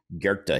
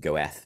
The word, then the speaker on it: Goethe: So one of my favorite philosophers is a guy named Goethe. He's a German guy. Some people pronounce it Goethe, but I think it's technically Goethe. And he wrote, whatever you